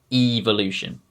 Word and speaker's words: evolution: try doing it yourself instead of making the e sound that you would normally make when you see the letter e you just say it like you're saying the letter e evolution epoch predecessor now let's